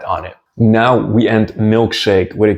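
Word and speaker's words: милкшейк: And in Russian you say milkshake.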